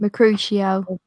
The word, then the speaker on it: Mercutio: Mercutio.